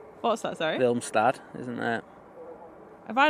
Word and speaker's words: Willemstad: Willemstad.